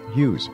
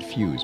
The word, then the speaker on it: Hughes: life of Howard few Hughes why do I want to say Howard fuse because it rhymes with user has will be back